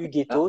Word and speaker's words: Ughetto: Donc, de savoir qui est Alexandra Oh, Huguetto, si je prononce bien le nom.